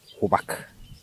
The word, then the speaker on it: Oubak: En Diola, on le prononce Oubak.